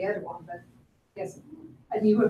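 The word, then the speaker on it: Erdoğan: So it's Erdogan. Erdogan. Okay. At least that's how I've heard Americans pronounce it. I say Erdogan, but yes, and you were pronouncing it just like very good, by the way.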